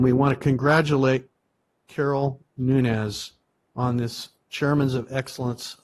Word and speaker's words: Nunes: the Chairman's award Carol Nunes nominated by Tyson Pogue did I pronounced that right is it Nunes or Nunes yeah POG is correct it's nunz okay great Carol began her